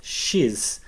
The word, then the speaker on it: xis: The name of this letter is X, which sounds a little bit like cheese.